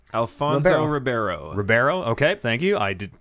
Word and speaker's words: Ribeiro: I'm gonna pronounce some. How do you say his last name? Alfonso Ribeiro. Ribeiro.